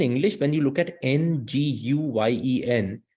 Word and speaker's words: Nguyen: has the same surname, which is spelled as Nguyen, right? So in English, when you look at Nguyen, it's hard to pronounce because you're like Ngu or something like that. But the real pronunciation is just Nguyen.